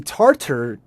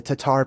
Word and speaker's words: Tatar: So um if you look up how the tartar people, however you like to say it, the Tatar people, how they actually spelled